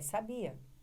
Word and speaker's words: sabia: Porque essa aqui agora, ó, é sabia. É uma paroxítona que termina em A.